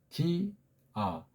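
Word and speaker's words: διά: 아가 구분 있는 발음이에요 디 아 두음절 짜리예요 두음절 전치사가 보통 한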